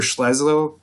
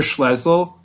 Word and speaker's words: Schlesinger: And this strategy was headed by Peter Schlesinger, the former president of... You got that name wrong, but it's fine. The former president of... Say it again? Peter Schlesinger.